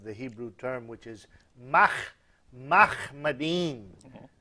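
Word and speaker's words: מחמדים: Now, the phrase which says he's altogether lovely actually is a word which in Hebrew is sounded Muhammadim.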